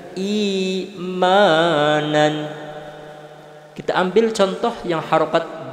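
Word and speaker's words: إيمانًا: Kasroh itu bacanya harus meringis, jangan sampai e. Yang terjadi pada umum di tengah-tengah masyarakat kita itu imanan. Yang betul adalah imanan.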